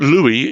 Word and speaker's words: Louis: difficult example which was somebody called Louie so l u i s because the Oddity there is that Louie is pronounced without the S at the end sure you